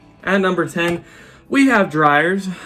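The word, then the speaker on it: Dreyer's: At number 10, we have Dryers. I looked up the pronunciation. It should be Dryers.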